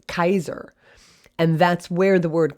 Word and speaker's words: Caesar: rome and we say caesar but actually his name then would have been pronounced kaiser and that's where the